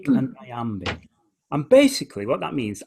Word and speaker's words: iambic: Very hard word to say, but trochaic and iambic. And basically what that means, iambic means the second syllable is stressed.